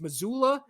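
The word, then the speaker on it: Mazzulla: I think it's Missoula is how you say his name.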